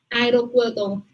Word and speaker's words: aeropuerto: No, tengo, no pronunciamos unidas, sino A-E. Aeropuerto.